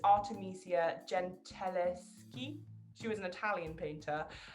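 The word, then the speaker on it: Artemisia Gentileschi: the early 1600s artemisia i'm really bad at pronouncing her name but it's artemisia gentileski she was an italian painter um but yeah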